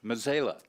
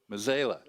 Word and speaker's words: Mazzela: That's what I've called him for a while because apparently I was saying it wrong, and it's Mazzela. Mazzela. Okay, Mazzela. So leave that S out of it.